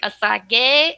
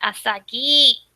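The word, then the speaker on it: あさぎ: It's like Asage. It's like Asagi. It's like, no, say it right. Close to Usagi a little bit.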